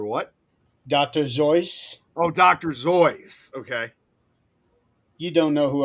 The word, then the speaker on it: Seuss: Zoyce. That's the correct pronunciation of his name.